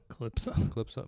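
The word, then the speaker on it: Kalypso: Calypso. But it's spelled K-A-L.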